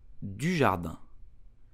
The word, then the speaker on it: Dujardin: So how do you pronounce his name correctly in French? You will say Jean Dujardin.